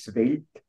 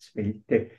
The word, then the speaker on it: Svelte: Übrigens, das Wort spricht sich Svelte aus und nicht Svelte.